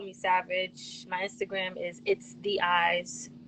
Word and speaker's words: itstheyez: Savage my Instagram is it's the eyes spelled i-t-s-t-h-e-y-e-z so when you try to pronounce it you're gonna try to say it's the No it's it's the eyes and where you from